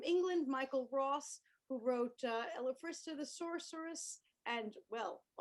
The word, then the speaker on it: Elfistra: Is it Elfistra? It's Elfistra.